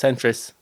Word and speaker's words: Centra: Not centra, it's centris. Yeah. So like that doesn't come centrit. No, but the A becomes an I. No, it becomes an S. Centris. Centris. CENTRIS. No, it's centra.